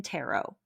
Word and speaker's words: tarot: Um, tarot, the word itself is derived from the Italian word terochi. So, terochi through the French language to English. That's why the T is silent in tero like Merllo because it's